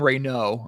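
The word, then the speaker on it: Raynaud: Maxime Reynaud. I was mistakenly pronouncing the D last night.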